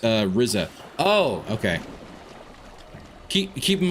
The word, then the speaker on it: RZA: By the way, it's pronounced uh Rizza.